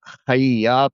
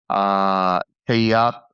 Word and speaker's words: Hayat: Just to interestingly, Hayat and it's pronounced Hayat, not Hayat. I don't know why it's pronounced it's written like that.